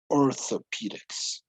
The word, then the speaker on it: orthopedics: Okay, notice pronunciation between, remember pronunciation when we have a T and an H, orthopedics.